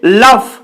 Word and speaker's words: লাভ: চলে যাচ্ছে চলে আসছি তার পরের শব্দে লাভ এটাকে অনেকে ফাল বলে তো এখানে দেখো লাভ ফ টা পরে রয়েছে ল টা আগে রয়েছে